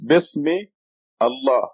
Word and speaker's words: Bismillah: So it's Bismi, Allah, these 2 words. Now when you have 2 words together, the article al becomes silent.